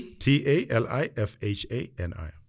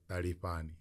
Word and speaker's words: Talifhani: Talifhani. You pronounce it? Talifhani. Tali. Ta. Ta. Like a TH.